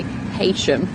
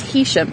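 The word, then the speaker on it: Heysham: got Hisham which a lot of people say Haitian I've actually been in an argument with someone from Manchester before over the pronunciation saying it's Haitian she tried to start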